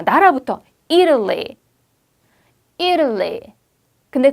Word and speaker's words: Italy: 그래서 Italy라고 발음됩니다.